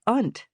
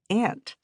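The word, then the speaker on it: aunt: We both said it like "unt" instead of "ant," like most of the other students.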